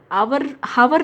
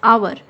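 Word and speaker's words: hour: हावर नहीं बोलते, हम क्या कहते हैं, आवर।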